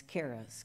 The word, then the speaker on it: Kehres: And it's Keres, Kehres, like in Sam.